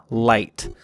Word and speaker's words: light: Now, eventually, we did drop the hard H from the word light, and now that GH just makes it kind of a, what we call a long I sound, so light. Prescription and commentary.